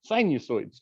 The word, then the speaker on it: sinusoid: um but but the the way we read this is like a long u sinusoids sinusoids and along eyes sinusoids sinusoids um and these are